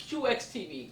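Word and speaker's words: CUEX TV: YouTube channel type CU e x TV it's pronounced QX TV but it's spelled CU e x TV and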